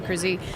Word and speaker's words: Cruz: pronounce it just no so just think about is cruising in a car and then just put a long e at the end so Rachel cruy um I've been with